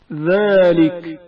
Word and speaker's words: ذلك: ذلك زال کی آواز باریک تلفظ ہوتی ہے. ذلك ذلك زال کے تلفظ کے وقت زبان کی حالت کو مشاہدہ کریں.